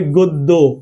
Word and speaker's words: গদ্য: তাহলে কি হবে বলেন? হবে গদ্য। কি হবে? নট গদ্য।